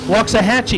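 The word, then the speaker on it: Waxahachie: Austin Williams out of walk aachi Texas is that how you pronounce it walk aachi walks a Hatchy you told me wrong you said you said Hatchi it's Hatchy I tell you what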